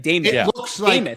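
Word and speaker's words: Demuth: She pronounces it. It's like Damoth.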